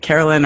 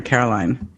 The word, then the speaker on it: Caroline: Carolyn or Caroline? I'm Caroline, like the Neil Diamond song.